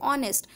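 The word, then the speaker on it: honest: जैसे ऑनेस्ट, तो ऑनेस्ट में भी एच साइलेंट होता है, तो इसलिए हम ए आर्टिकल नहीं लगाकर एन आर्टिकल लगाते हैं।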